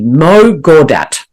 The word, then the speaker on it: Mo Gawdat: Mo Gawdat.